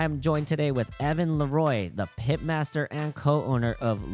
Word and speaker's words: Leroy: Leroy.